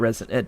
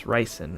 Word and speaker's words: ricin: Not resin. Did I say it right? Ricin? Did I say resin? It's ricin, right?